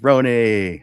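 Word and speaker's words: Rony: So, my name is Rooney, pronounced R O N Y, pronounced like Rooney, like macaroni.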